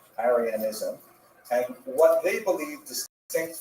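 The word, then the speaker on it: Arianism: In particular, the gods adopted a form of Christianity called aranism which is spelled with an i. A r i ansm aranism.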